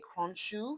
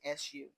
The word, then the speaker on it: Khonsu: Moon male gods would be like Thought, Thoth, Manny, and I don't know how to pronounce this, so I want to say Khonshu. So it's Khonsu. All right.